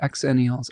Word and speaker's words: Xenials: Zenial Zenials are closer to Gen Z. Xenials are closer to Gen X. They're both pronounced the same.